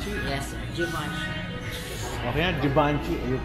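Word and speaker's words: Givenchy: anong pronoun siya gaven alam natin gaven Anong pronunciation? Givenchi. Jivanchi. Givanchi. Yes sir. Jivanchi.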